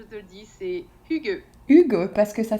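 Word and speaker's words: hygge: voilà donc euh donc le H qu'on qu'on prononce un peu et puis le y c'est le son u euh en danois donc c'est hugux d'accord intéressant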